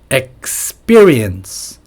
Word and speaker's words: experience: 발음 하려면 어떻게 할까요 x 쌍비읍 피가 xperience experience 또 x exp 단어 중에 expert 전문가 expert 다 쌍 비읍 소리가 나죠 experience expert export export 그죠 수출 export 조금 쌍 비 쪽으로 발음해 주시면 더 좋을 것 같습니다 다시 한번 let the